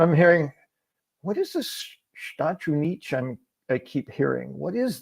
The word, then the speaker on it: Estados Unidos: dos Estados Unidos, and trying to say it like all one word, like a Portuguese, sou dos Estados, and I get all twisted up.